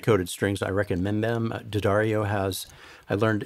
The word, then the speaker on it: D'Addario: D'Addario has, I learned it's pronounced D'Addario. D'Addario has really good coated strings, but I like the elixirs.